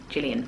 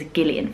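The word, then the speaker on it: Gillian: She pronounces her name as Gileian Flynn. And I always feel weird not pronouncing it how she pronounces her own name, if that makes sense. Whereas in England, we pronounce this with a soft G.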